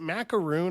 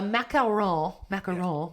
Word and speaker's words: macaron: Do you like, what is it, macaroon or macaron? Like, what is it? So a macaron, if you're pronouncing it correctly as the French do.